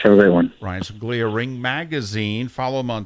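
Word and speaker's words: Ryan Songalia: Ryan Sunglia, Ring Magazine. Follow him on Twitter, Ryan, R-Y-A-N, and Sunglia is how it's spelled, S-O-N-G-A-L-I-A, from the legendary Ring Magazine.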